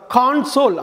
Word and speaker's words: console: அதாவது CONSOLE-ஐ ரெண்டு விதமாக உச்சரிக்கலாம். கான்சோல் அப்படின்னு ஒரு உச்சரிப்பு, கன்சோல் அப்படின்னு ஒரு உச்சரிப்பு.